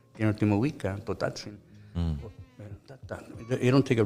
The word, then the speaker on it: Tenochtitlan: You know, every word, all the words are, they take the accent sound and the second to the last syllable. Like Mexica, Azteca, Mazatzin, Tenochtitlan, Totatzin.